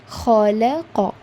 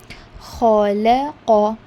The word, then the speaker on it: خلق: Coming to the first alphabet, that is kha. Whenever you're reciting this kha letter, remember there is a kind of vibration in your throat.